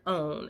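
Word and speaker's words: Owyn: that anymore i did buy one vanilla flavored own it's spelled o-w-y-n um from whole foods so i'm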